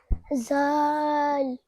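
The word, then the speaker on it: ظ: This is a superior letter pronounced from the tip of the tongue touching the inner edge of top two and bottom two front teeth.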